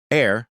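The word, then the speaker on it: heir: That P is silent now but it was there in Latin recepta air. The H is silent but helps us link it to inherit and heritage.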